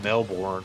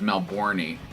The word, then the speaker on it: Melbourne: I think the pronunciation of that is Melbourne.